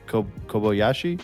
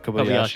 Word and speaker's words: Kobayashi: hmm Masaki Kobayashi. Is that how you would Yeah, say it? Kobayashi. Kobayashi is Kobayashi.